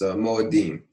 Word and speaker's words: Moadim: The way that it actually is pronounced in the actual Hebrew would be, let's see here. Ule Moadim. Ule Moadim. So it's Moadim.